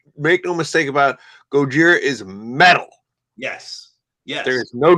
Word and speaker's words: Gojira: Yeah, Gojira.